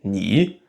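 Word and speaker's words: 你: Et donc, quand deux mots sont au troisième ton, a, et qu'ils se suivent, alors la première syllabe passe au deuxième ton, a. Par exemple, toi se dit ni, et bien se dit hao.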